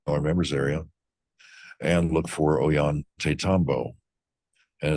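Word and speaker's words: Ollantaytambo: And look for Oan Tatambo. And it's not O Yan, it's O L L. So, the two L's are pronounced with a yah sound.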